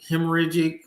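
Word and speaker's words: hemorrhagic: pox viral hemor hemor hemorragic fevers am I saying that right she ain't listening hemor you said it right yeah hemorragic hemorragic fevers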